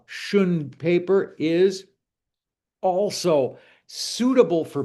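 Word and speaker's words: xuan: This paper is called singleshun paper and single shun paper is uh spelled with an x. So it's x u a n uh shun paper is also suitable for beginners uh because it's really inexpensive.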